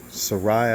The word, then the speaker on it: Sarai: Sarai, I believe is how it's pronounced at that time.